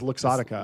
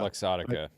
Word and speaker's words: Luxottica: The Ray-Ban maker, how do you pronounce this? Essilor, I just know as It's Luxottica. Luxottica.